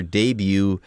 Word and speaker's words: debut: of the pronunciation here debut it is a french word if you debut you